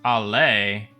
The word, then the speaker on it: Ali: Ali is actually pronounced Ali. It's Arabic.